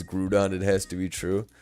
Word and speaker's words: Groudon: Correct pronunciation is Grudon. out of here. No way. It's Grudon.